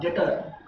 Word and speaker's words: debtor: इस डेटर का स्पेलिंग होता है DEBTOR, डेटर।